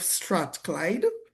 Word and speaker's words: Strathclyde: As a result of this, she has embraced roles such as working with the University of Strathclyde. I believe I pronounced that Yes, correct.